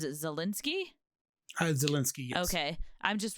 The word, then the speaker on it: Zelensky: I've definitely seen a lot of positive stuff about, how do you pronounce it? Zelensky?